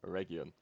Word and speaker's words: Eregion: I've been called out for my pronunciation and I disappoint Galu. Which, I'm going to be honest, I'm perfectly fine with disappointing Galu. But probably should endeavour to say it correctly, all things being considered. So yeah, Eregion.